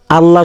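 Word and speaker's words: الله: এই জবর থাকার কারণে এই আল্লাহ শব্দকে কি করে উচ্চারণ করতে হবে মোটা করে উচ্চারণ করতে হবে এখানে যদি আপনি কুলহু আল্লাহ পড়েন তাহলে ভুল হবে।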